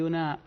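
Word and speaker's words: οὖν: apasionante hablar de la estructura de Romanos hay una hay una conjunción en el libro que aparece muy frecuentemente en griego se escribe own se pronuncia un y se puede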